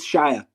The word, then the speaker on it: Shia: Shila Buff shows up how do you pronounce his name le le um Le no it's Shia you're saying okay sh